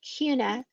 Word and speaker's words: Kuna: a little town called Cuna Aina k-u-n-a it's spelled and sounds just alike except people almost look like Hakuna Matata you know and um